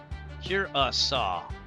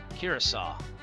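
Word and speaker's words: Curaçao: Curasaw. Curasaw.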